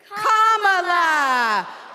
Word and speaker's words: Kamala: do you pronounce it first you say comma like a comma in a sentence then you say la like la la la la la put it together and it's 1 2 three comma all right so let's